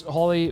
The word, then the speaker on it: Holly: strong and of course Holly or holy however you want to say it uh of course I thought it was holy but it's spelled Holly on the card but uh is